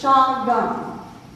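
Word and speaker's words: Chagum: They would pronounce it Shawgum. We, as family members, have gone to the original name, to the earliest form, which was C-H-A-G-U-M.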